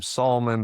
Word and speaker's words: Salmon: Solomon Comedy and my last name Solomon, but it's spelled like salmon.